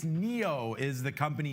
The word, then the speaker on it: NIO: NIO. Yeah, it's Neo is the company name, how you pronounce it.